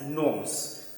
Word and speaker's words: gnomes: time h is silent so the same way g is silent here we will be pronouncing it as norms okay so knives and